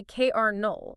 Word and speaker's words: colonel: It starts with c o l o. There is literally no letter R anywhere in the zip code of that word. Not a single one. And yet we say KR null. Where on earth does the R come from?